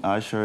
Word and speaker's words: ASA: asa is all about are we saying it right is it is it our is it asa asha what is usher all about i mean usher is an online magazine